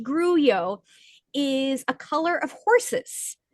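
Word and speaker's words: grullo: And what I thought was greo, which is actually pronounced gruo, gru l o, pronounced gruo, is a color of horses uh in the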